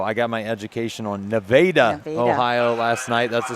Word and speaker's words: Nevada: Don't call it Nevada. It's spelled like Nevada. I called it Nevada, and Jay Wolf made sure to tell me it is Nevada.